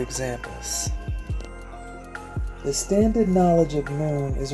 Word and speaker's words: Noone: spiritual science, which is Noone. Noone is the spiritual heritage of Ethiopians in general, and it helps all oppressed peoples. Noone is pronounced Noon.